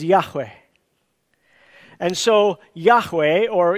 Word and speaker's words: Yahweh: gave to Moses and we pronounced it probably closest in Hebrew as Yahweh and so Yahweh or